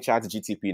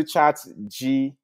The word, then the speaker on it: ChatGPT: All right, let's go back into ChatG, because people are always saying ChatGTP, now it's now making me say the same thing. So let me start pronouncing it well, please. Let me go into ChatGPT.